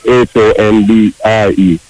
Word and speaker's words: hombre: When you see the H, you don't pronounce at all. Okay. See, me not know something at all. That's why I like when you say H-O-M-B-R-E, you say hombre, you say hombre, you say hombre.